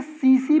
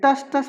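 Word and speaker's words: tsetse: इसे सीसी फ्लाई बोलते हैं, टस टस फ्लाई नहीं बोलेंगे, इट इज सी fly. Clear है? T will be silent, it is known as what, सीसी फ्लाई।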